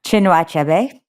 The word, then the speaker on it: Chinua Achebe: Another, Things Fall Apart by, can you pronounce this author's name for me? Chinua Achebe.